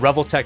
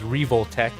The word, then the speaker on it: Revoltech: it is revotech I I pronounced it revtech earlier but uh because I know how to read Katakana now I've confirmed that it is revoltech and they have have